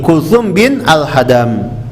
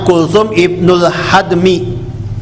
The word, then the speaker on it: Kultsum Ibnul Hadmi: di rumah sahabat ini Kultsum bin alhadam ini bacanya sebenarnya Kultsum Ibnul hadmi tapi orang kita tuh kalau mewakafkan kata dalam bahasa Arab Biasanya seperti ini alhmi jadi alhadam Rasulullah tinggal di sana